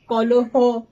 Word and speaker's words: কলহ: আমরা কখনো বলি না বিবাহ, আমরা বলি না কলহ, আমরা বলি বিবাহ, কলহ, মুড়ো, গাঢ়, অর্থাৎ সমস্ত অগুলো অকারান্ত উচ্চারিত হচ্ছে।